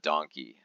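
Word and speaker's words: Don Quijote: Don kot um donot Super Market yeah it's spelled like this and it's a Japanese super market and they call it donkey uh yeah so this it's an absolutely crazy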